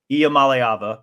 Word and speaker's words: Iamaleava: Nico Iamaleava. First, did I pronounce that right?